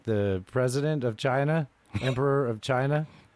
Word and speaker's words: chi: Uh Uh uh Okay, so we've been playing these videos of Alan, is it pronounced Xi like the president of China, emperor of China?